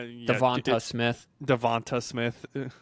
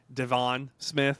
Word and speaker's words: DeVonta Smith: Devonta Smith. Devon Smith, I think is what I called him a few times.